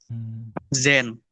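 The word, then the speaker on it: zehn: Zen 10, benar, Zen. Apakah ada yang bisa membacanya?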